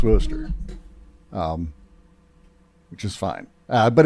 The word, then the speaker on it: Worcester: It's pronounced Worcester, which is fine.